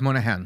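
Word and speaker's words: Moynihan: do you say his last name Daniel Patrick Monahan yeah Monahan in 1965 nearly 25% of black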